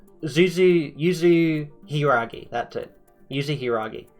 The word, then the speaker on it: Yuzu: We unlocked Yuzu's booster pack, and I am going to say Yuzu. Like, I might interchange between Yuzu and Zuzu, but Yuzu is the way that I've learned how to say it. I'll be honest with you. Even though it reads Zuzu, I'm going to be saying Yuzu, because one, I actually think it sounds better.